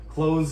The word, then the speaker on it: clothes: extra syllable is actually clothes is just one syllable it actually sounds more like like close like to close the door we don't emphasize the